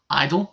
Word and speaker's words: (G)I-DLE: I've been told that these guys are pronounced idle eyeball Sivaji so without